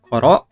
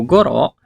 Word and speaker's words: ころ: Ada penggunaan koro atau goro, tekara, dan atode. Pertama, penggunaan koro. Bisa juga dibacanya goro ya.